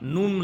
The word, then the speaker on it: नुम: दूसरी बार नूम लगा के पढ़िए, नाम है छोटी की मात्रा और ऊपर बिंदी, नूम होगा इसका उच्चारण।